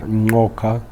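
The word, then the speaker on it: Ngcuka: team, the former Vice President of South Africa, Ngoka, that is the right pronunciation of her family name, and of course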